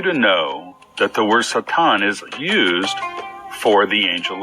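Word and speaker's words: שטן: I think everyone is familiar with the word Satan, which is pronounced in Hebrew Satan, and brings up images and thoughts of pure evil.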